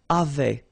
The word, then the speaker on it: avaient: And then you saw probably that we've got also here A-V-A-I-E-N-T, but then you pronounce it avait. So the same way as we pronounce here, okay?